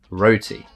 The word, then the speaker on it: roti: We roll the R's, the roti.